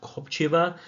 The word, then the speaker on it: Kopriva: Sounds like it is pronounced Kopriva. So I'll try my best to get that right next time.